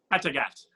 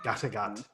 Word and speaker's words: Kattegat: Kattegat. That's exactly how they say it in the show every single time. Kattegat.